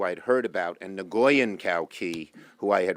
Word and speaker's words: Nguyen: had heard about and nguyen cao kee who I had read about because when in Vietnamese is ng u ye N which is a very common name is pronounced win and thank you for